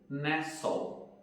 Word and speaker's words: nestle: Nessas palavras, a letra T não é pronunciada. Então, como que ficaria a pronúncia dessas palavras? Ficaria assim: Christmas, listen, fasten, mortgage e nestle.